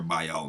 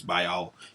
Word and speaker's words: Baal: And we're going to look at what Baal or Baal mean, because it depends on your English. If it's British English, it's Baal. If it's pronounced the American English way, it's Baal.